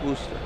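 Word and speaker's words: Worcester: like rooster woer like woster sauce it's actually pronounced woster wo like almost like a wer Worster that's how I say it see that's what everybody thinks they think it's wor wer but it's actually pronounced Worster I always pronounce it right that's what I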